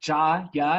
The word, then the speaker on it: Gyre: inspired it um so it's pronounced ja ya like a german but yeah a vortex